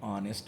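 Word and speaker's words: honest: an hour और एन ऑनेस्ट मैन ये सारे के सारे ऐसे वर्ड्स हैं जिनमें एच साइलेंट है और इनके साथ आप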